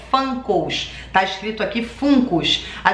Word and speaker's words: Funko: para colocar nas minhas coisas né então a pronúncia correta americana é fã cowell está escrito aqui fungos a gente pode pronunciar também fungos como brasileiros a gente não é obrigado a